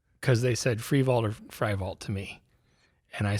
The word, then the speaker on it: Frievalt: And the way it's spelled, it should be Frievalt. I'm like, well, there you go. It should have been Frievalt the whole time.